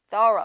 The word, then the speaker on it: thorough: 자 이번에는 let's look at thorough. Thorough. 맞아요. 뭐죠? 발음이 조금 조심해야 돼요. First one is through. The second one is thorough.